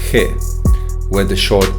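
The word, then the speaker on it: καί: For instance, the word kai, meaning and, was originally pronounced as kai. However, after the 2nd century AD, it is pronounced as he, where the short e sound is no longer an alarm sound.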